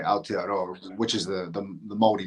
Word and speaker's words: Aotearoa: Yeah, Aotearoa. There we go. Aotearoa. So Aotearoa is in New Zealand. Nobody really says New Zealand. We say Aotearoa, which is the Māori name, the traditional name for New Zealand.